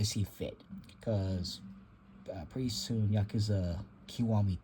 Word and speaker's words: Yakuza: nerves when they keep pronouncing the series as Yakuza instead of like I say, Yakuza, the more proper way of pronouncing it.